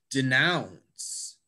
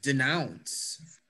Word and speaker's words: denounce: you notice that i if you stress the first syllable it's going to sound really weird to people who speak english defeat i'm going to defeat the team it's not defeat it's defeat it's not denounce it's denounce so it's